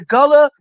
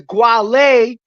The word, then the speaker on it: Gullah: The Gullah, the Gwale, depending on the way you want to pronounce it, was a tribe of Indians.